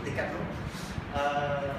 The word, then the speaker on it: Decathlon: That Decathlon today, whatever you pronounce it, I pronounce it the French way, so Decathlon.